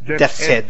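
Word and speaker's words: Deathshead: try to kill General Death, how do I death head?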